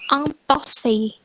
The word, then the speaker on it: imparfait: Terus ada imparfait itu dibaca imparfait. Ingat ya, kalau A sama I itu kan jadi E, jadi imparfait.